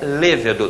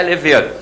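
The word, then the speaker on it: lêvedo: Lévedo, que está todo mundo também falando errado por aí, a palavra oficialmente é lévedo, não é levedo. Embora alguns dicionários resistem às duas, em um concurso vale lévedo, que é a melhor pronúncia.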